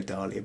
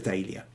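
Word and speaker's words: dahlia: my wife because I It's the way it's spelled. D A H L I A. I would go Dalia, but it's a Dia.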